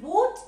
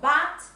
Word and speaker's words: but: Renata, ojo con la pronunciación, room, cupboard, but, chicos, no me pueden decir boot, ¿eh? Ojo, but, pencils, que suene esa